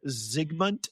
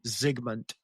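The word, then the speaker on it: Zygmunt: Uh, in the 1500s, uh, accomplished potioneer Ziggmund Budge, it's spelled Z Y G M U N T. Ziggmund.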